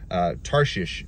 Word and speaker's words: Tarshish: Tarshish is the way it's pronounced in Hebrew, and it very much is the gemstone of commercialism.